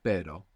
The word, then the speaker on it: pero: So initial R or two R's together inside the word is going to pronounce this double R. So the word for but in Spanish is pero. Pero. P-E-R-O. And the word for dog is perro. P-E-R-R-O. Perro. So that's the difference.